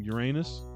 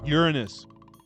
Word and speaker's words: Uranus: but you're originally from Uranus excuse me funny guy it's actually pronounced Uranus not to me good one